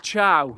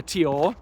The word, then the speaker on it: Thiaw: that link is, but that's what I originally thought his name was. I thought it was Thiaw, then I thought it was Thaw with a silent I. But I got both of those wrong.